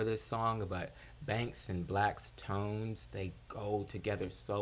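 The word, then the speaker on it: 6LACK: six lack a lot of people call them six slack uh which i did two at first until i learned it was black i've actually got the shirt that like is like six lac pronounced black um but great project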